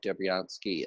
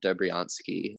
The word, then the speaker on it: Dobriansky: his name, Dr. Lev Dobryansky, Dobriansky. I'm not 100% sure I'm pronouncing Yep, you got it.